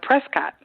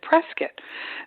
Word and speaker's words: Prescott: called prescott but i would always call it prescott and they look at me funny and they and it's spelled prescott but they pronounce it prescott so believe me i've been uh corrected many